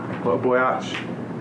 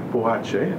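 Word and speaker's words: Boakye: But Kofi Boyaki, I'm always pronouncing this, Boyach. Okay, Boache, I'm sorry, I'm always pronouncing his name wrong.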